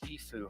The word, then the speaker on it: Tfue: That's Tfue. Mhm. Like the band Tpow. Sounds like when you sneeze.